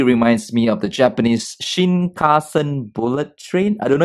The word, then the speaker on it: Shinkansen: teacher this actually reminds me of the Japanese Shinkansen bullet train I don't know if I pronounced it right you learn Japanese Regin yeah Shinkansen that's right power there so as we know